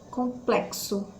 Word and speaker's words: complexo: respondia uma letrinha b complexo complexo olha so ks então a letra nem